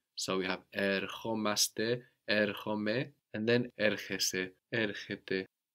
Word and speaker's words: ερχόμαστε: And with the accent on the O, omaste. So we're coming, we come. Ερχόμαστε. Erchomaste.